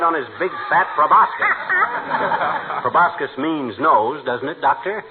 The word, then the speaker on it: proboscis: run one right on his big fat robot proboscis means nose doesn't it doctor it's proboscis my boy ah the sea is silent like a husband in a military shop